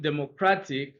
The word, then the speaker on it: Democratic: answer is C because the primary slash the main slash primary stress of the word Democratic is on the third syllable well third syllable from the beginning but second syllable from the end okay now answer the